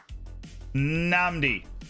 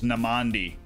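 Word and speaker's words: Nnamdi: it was spelled wrong namdi i was literally saying it right but the way was the way it was spelled was namandi namandi collins no it's namdi collins he has not played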